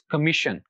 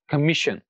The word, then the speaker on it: commission: पर खत्म होगा, तो वहां पर जो स्ट्रेस होगा वो हम आखिर से दूसरे वाले सिलेबल पर पुट करेंगे, तो जो आखिर से दूसरा वाले सिलेबल है दैट इज मी, तो it will be pronounced like this, कमीशन, कमीशन।